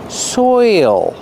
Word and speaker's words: soil: is soil pronunciation soil you have the oi sound followed by the dark L soil there's an extra